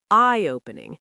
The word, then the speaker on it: eye-opening: Stress falls on I. Say it eyeopening, not eyeopening.